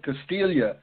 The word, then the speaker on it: Castiglia: We have Castiglia with us tonight. How are you doing tonight? Well, I'm doing fine, Casey, but you know, us Castillias call it Castiglia, so the G is silent.